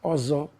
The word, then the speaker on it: Ozo: which is Ozo in my dialect. But because of the new generation, everything is fast with them. So that's why they've cut off the O for easier pronunciation.